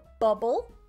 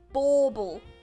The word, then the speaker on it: bauble: said christmas bubble so just the pronunciation you got bubble bauble bubble bauble you see this one's longer yeah bobble like a trumpet there how many days do